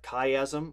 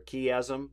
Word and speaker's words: chiasm: there's a thing called a chiasm or a key Azzam it's kind of pronounced both ways and here's an example